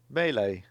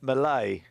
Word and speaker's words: melee: Well, so this old Twitter is saying UK melee is typically pronounced melee, so Adkins may have been right, or sometimes melee. The Cambridge Dictionary. Well, this Cambridge Dictionary is saying Malay.